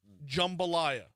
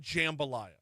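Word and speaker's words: jambalaya: Jumbalayia. Not jambalayia.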